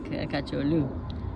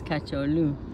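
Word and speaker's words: کچالو: then some salad stuff, or potatoes, which is kacholu. Potatoes, kacholu. K-A-C-H-A-L-O, kacholu. Some of the stuff is hard to pronounce, I guess, because in English we don't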